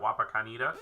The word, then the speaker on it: Wapakoneta: So again, if you are Wapakoneta, how you pronounce that? Wapakoneta.